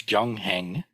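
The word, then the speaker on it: 경행: In Sino-Korean, it's gyongheng, and it actually means, so this is the character for sutra, which we've already covered, and practice.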